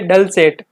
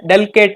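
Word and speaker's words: dulcet: गया है यहाँ पे डल सेट। इसको डल सेट पढ़ना है, डल केट नहीं।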